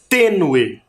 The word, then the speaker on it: tênue: A próxima é a palavra tênue. Vamos separar. Também tem 2 sílabas. A última sílaba é no e. E a penúltima, t. Tênue. Tênue. Também tem sílaba tônica e ela está demarcada por um acento.